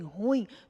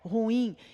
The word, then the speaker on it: ruim: muitas vezes nem ouvimos as pessoas dizerem ruim transformando o hiato em ditongo não se esqueça que o hiato já é um hiato aqui veja e ator o encontro de duas vogais pronunciados em sílabas separadas em tão ruim também é um hiato a pronúncia correta é ruim encontro de duas vogais